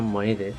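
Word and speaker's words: m'aidez: Mayday Fransızca mayday yani yardım et kelimesinin yanlış telaffuzundan geliyor. Fransızca mayede yardım et demek. Ancak İngilizce konuşanlar telaffuzda maydiyordu ve bu yanlış telaffuz zamanla dünya çapında bir yardım çağrısına dönüştü.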